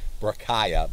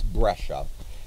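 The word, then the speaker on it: breccia: c c i a you'd think it'd be pronounced Braya but it's brasia and what a brasia is it has angular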